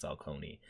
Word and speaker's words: Falcone: Or yeah, it's pronounced Falcone, where we're dealing with him, and it is all kind of under the same umbrella, and it all kind of connects.